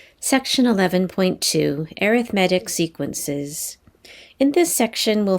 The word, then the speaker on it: arithmetic: this word when it chooses a adjective it's pronounced arithmetic i know we're used to looking at that word and calling it arithmetic but that would be the noun so when